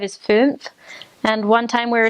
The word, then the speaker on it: fünf: So anyways, that sound, ooh, with like an E on the inside and like an ooh on the outside, fünf. It's really hard to pronounce.